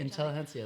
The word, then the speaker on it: Intelligentsia: It's like Intelligentsia or Gente. Or something. Intelligentsia, that's right.